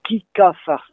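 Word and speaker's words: kig ha farz: De même que nous, on dit aussi « no sade »,« hitahé », tout le long de « hit », ça s'écrit « h-e-d », mais on dit « hitahé ».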